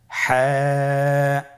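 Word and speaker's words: ح: হা হরফটি কিভাবে উচ্চারিত হবে? হা হরফটি উচ্চারিত হবে কন্ঠনালীর মধ্যখান হতে।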